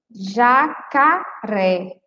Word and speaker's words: jacaré: Esse J é o nome da letra, mas o som é o som de G, né?